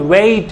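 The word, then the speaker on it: wait: लिखा है it's called वेट, इट्स नॉट बेट, व्हाट इज, it's called वेट। आप तमाम लोगों से सुनते होंगे उनका प्रोनाउंसिएशन बहुत गंदा होता है और वो कहते हैं बेट, बाटर, ए बाटर लाओ, ठीक है।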